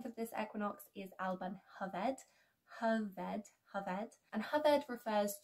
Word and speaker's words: Alban Hyfed: Another name for this equinox is Alban Hyfed.